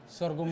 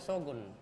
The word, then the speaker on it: sorghum: Mama Ge ini yang bawa kas kotong ini sorghum cookies. Iya. Bacanya begitu ya? Sorghum. Sorghum. Iya. Be kadang salah ucap dia bilang sogun. Sorghum.